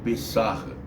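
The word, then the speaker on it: פסח: Não sei pronunciar direito, mas é pessarra.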